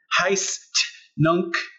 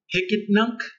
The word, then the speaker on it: Hicetnunc: this weird website that you may have seen heist nunc it's pronounced hicket nunc and it means here and now okay it's